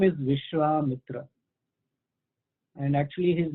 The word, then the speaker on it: Vishwamitra: just a side note, when the name Vishwa and Mitra is there, and it actually refers to a great rishi, then the two words, when they combine, there is a long A in between. So it's called Vishwamitra.